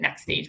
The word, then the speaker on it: NX Stage: And so while I was at Next Stage, which is just how we pronounce it, Next Stage, but NX Stage, Okay.